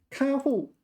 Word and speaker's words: 看护: So how do you pronounce this? 看护.